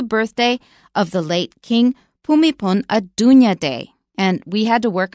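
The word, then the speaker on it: Bhumibol Adulyadej: of the late King pumipon a Dunya day and we had to work on that both of us because it is not pronounced like it's spelled so when you run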